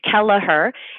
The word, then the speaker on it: Kelleher: connect with you well Kelleher is three syllables sometimes people spell it wrong because it's a hard word but it's it's Kelleher and that's a little